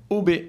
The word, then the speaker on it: Hobe: tous hein déjà et pour la prononciation ça s'appelle donc ob pour le petit clin